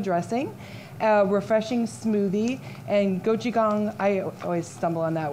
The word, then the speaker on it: gochujang: Okay, so today what we're going to be making is a spinach salad with carrot ginger miso dressing, a refreshing smoothie, and gochujang, I always stumble on that word, tomato tofu.